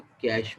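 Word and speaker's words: cache: हैं ठीक है लेकिन इसको प्रोनोस क्या करते हैं कैश मेमोरी यश जो सी ऐड्स पेशेंट प्रॉब्लम से टेस्ट कैश स्पेलिंग उसके सीएसएस नहीं है लेकिन इसकी स्पेलिंग सीएससी तो लेकिन प्रॉब्लम था उस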